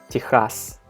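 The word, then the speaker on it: Техас: But the way we pronounce it in Russian is Texas.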